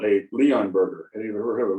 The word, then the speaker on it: Leonberger: Leon Burger, just how it's pronounced.